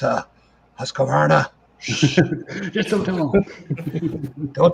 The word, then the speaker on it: Husqvarna: guess I should pronounce that right. Husqvarna. Always No put on the it. Husqvarna.